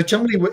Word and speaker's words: Cholmondeley: explained to me that that's an old, very old posh British name, and it's pronounced Chumley St. John. And I thought that was so cool. And the reason that the monkey was called Chumley St.